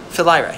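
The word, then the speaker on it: Philyra: mom is the nymphalyra fellaira yeah because it sounds like philly that's how i remember it like philly's a horse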